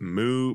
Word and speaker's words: Meux: the top two called moo Brewery and moo is spelled meux moo it's French I looked it up moo is I think the right pronunciation not important to the